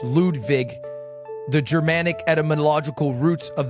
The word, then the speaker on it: Ludwig: My name is Lwig, but it's pronounced Ludvig. Lude Vig.